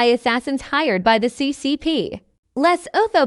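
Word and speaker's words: Lesotho: hired by the CCP Les oo pronounced Leu is a tiny country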